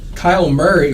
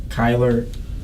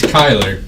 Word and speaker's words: Kyler: Now will you say it right for us? Kyle Murray. That's not. Kai. Say Kai. Kai. Now say Lur. Kyler. There you go.